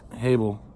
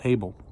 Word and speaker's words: Havel: his twin even hey Havel they pronounced in here instead of Abel a B L hav e L able and Havel was the Shepherd of